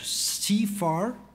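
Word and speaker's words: CIFAR: you to the Canadian Institute of Advanced Research CFR that's the the way to pronounce it for joining us as partners in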